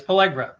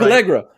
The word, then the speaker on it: Pelligra: You pronounced it right. It's Pelligra. You said it right. Pelligra.